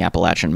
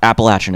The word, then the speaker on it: Appalachian: in the kind of rural communities in the Appalachian Mountains. And look, I know I'm bad at pronouncing things, I mispronounce things all the time on this channel. Appalachian is how you say it.